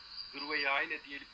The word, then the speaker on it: Gırveyayne: Kelimelerde de ne kadar kelime varsa örneğin Gureyane çalışmak ve işte diğer yörelerde diyelim Guryayne, Gırveyayne şeklinde telaffuz edilir. Orada Gırveyayne diyelim ki en aslına yakın telaffuzu.